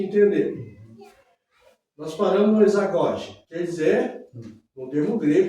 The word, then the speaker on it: isagoge: Exagoge, se escreve I-S-A-G-O-G-E. Exagoge. Isagoge. É isagoge. Isagoge, termo grego.